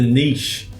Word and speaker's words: niche: have an evergreen dropshipping niche to grow a solid business. So, what is a niche? Or as the Americans say, a niche.